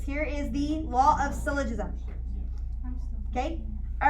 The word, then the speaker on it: syllogism: It looks like syllogism. It's syllogism. Syllogism. Syllogism is how it's pronounced, okay?